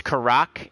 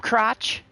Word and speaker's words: Karak: cratch bro what's up crotch it's like my name's not crotch it's karak I'm sorry I keep